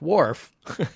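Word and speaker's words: Worf: Wararf, one syllable, has an R up until this point.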